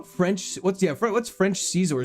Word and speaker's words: Scizor: I say Scizor, not Caesar. Fair. I mean, it's probably supposed to be pronounced like Scizor, but for me, it seems more exciting as Caesar.